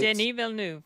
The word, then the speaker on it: Denis Villeneuve: It's Denis Villeneuve, right? Denis Villeneuve, yes.